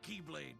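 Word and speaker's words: χ-blade: It's just pronounced like Keyblade, even though it's just one Keyblade.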